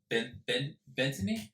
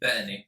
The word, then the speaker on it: Bettany: It's not Paul Bettany. How do you say it again? Bettany. Bettany. Bettany. Bettany. I bet you a knee. Yes. That's how you say it.